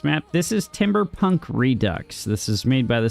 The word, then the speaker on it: Redux: Isn't it pronounced redu? Still silly French things, right? England. What about French? Is it redo or redux? I don't know. It's re dux.